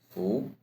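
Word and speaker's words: 服: Fu, U. Fu is fu sound in food. Fu, turn it into the second tone. Fu, fu.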